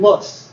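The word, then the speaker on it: loess: that is it's a kind of soil called lus that's spelled l l o s and it's the wind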